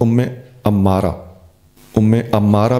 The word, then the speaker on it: ام عمارہ: نزول ہے، ترمذی 3211۔ حضرت ام عمارہ بھی پڑھا جاتا ہے، ام عمارہ بھی پڑھا جاتا ہے، میم خفیف اور عین پر پیش۔ یہ ناموں کے پڑھنے